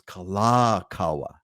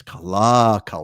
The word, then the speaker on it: Kalakaua: It's Kalakaua, right? It's Kalakaua. It's not Kalakaua.